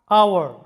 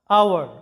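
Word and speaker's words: hour: তো চলো শুরু করি আওয়ার লক্ষ্য করো শব্দটা আওয়ার এখানে এইচ এর কোন উচ্চারণ নাই যেটার বাংলা অর্থটা হচ্ছে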